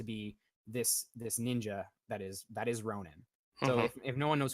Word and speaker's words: Ronin: It's more like Ronin and not Ronan. Yes, yeah. Ronan the barbarian and Ronin the warrior. The ninja.